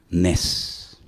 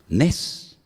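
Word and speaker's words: נס: Nes. Nes.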